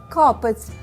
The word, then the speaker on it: капець: в однині До речі це капець наголос на першому складі ще один комфортний варіант